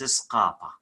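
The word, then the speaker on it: ܙܩܦܐ: When we're gonna study this letter, it says if Z come before qop, q, the sounds of Z is going to be S, S. So that's why the sounds of skapa is not skapa, it's skapa.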